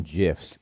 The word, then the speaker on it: GIF: you're all wrong it's it's pronounced jiff but no no no thank